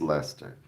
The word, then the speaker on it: Leicester: Okay, it's Leicester. Okay, see I didn't know how to pronounce it.